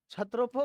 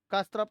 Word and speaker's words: क्षत्रप: तो कस्त्रप नहीं पढ़ेंगे, क्षत्रप ही है वो, के साइलेंट है।